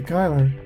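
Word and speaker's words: Cuyler: Kiki Kyler is today's star of the game. All right, it should be pronounced Kai Kyler.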